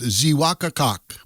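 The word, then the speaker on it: Xeewakacak: Frank's Hill, or in Native American it's pronounced Ziwaka Kok.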